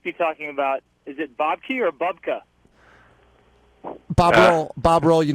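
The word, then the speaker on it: Bobke: go with bob key because it was the american pronunciation of a flemish you know uh name and then i just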